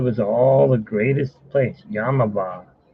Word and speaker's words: Yamava: I heard it was all the greatest place, Yamava. Let me spell it out for you, because everyone thinks I'm saying Yamaha.